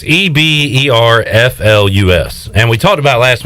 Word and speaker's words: Eberflus: pronouncing it uh eber eberflus it's either flues or yeah you don't even know but it's flu it ends with flu it sounds like flu so it's pollution i